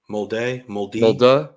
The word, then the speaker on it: Molde: It's an E there. You say that letter different. So how do you pronounce the E? So would it be Molda or Molde? Molde.